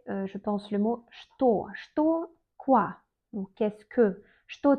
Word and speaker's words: что: Что, quoi? Donc, qu'est-ce que? Что ты делаешь? Qu'est-ce que tu fais? On écrit что, mais on prononce comme что.